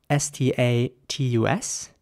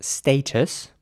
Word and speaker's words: status: next word is spelled s-t-a-t-u-s and in British English this would be pronounced status and in American English it would be status so again with an a sound and a very soft T status here's an example